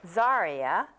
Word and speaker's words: Zaria: like I have I never say it right zaria yes zaria from the first book if you notice that